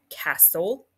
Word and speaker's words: castle: end with s-t-l-e both the T and E are silent so s-t-l-e is read as soul examples of the consonant l e exception include the words like castle and whistle so for